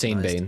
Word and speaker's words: Sean Bean: It's pronounced Sean Bean.